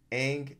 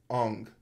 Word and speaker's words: Aang: But the thing that was most atrocious about this movie was the way they pronounced Aang as Ong.